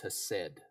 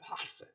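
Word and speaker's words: חֶסֶד: Hakalugi and then throw an H in front of it, right? That's how you would pronounce it in Hebrew, right? Hesed.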